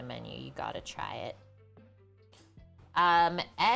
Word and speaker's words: saganaki: Saganaki, I believe. Saganaki. Basically, spell it exactly like how it sounds.